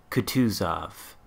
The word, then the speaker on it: Kutuzov: Cruiser or Russian Cruiser could choose off and that I believe is the correct way to pronounce it could choose of with the emphasis just like that so I'm gonna try